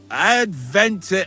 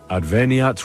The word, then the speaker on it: adveniat: Adventure ad rectum to whom, fet voluminous to her, seek it, inhale it, enter it.